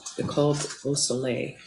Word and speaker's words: Nicole Beausoleil: I wasn't doing a great job at the French pronunciation of your name, Nicole Beausoleil, correct? Correct. Was that right? Yes.